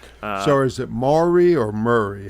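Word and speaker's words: Maury: So, is it Mari or Murray? How do you pronounce it?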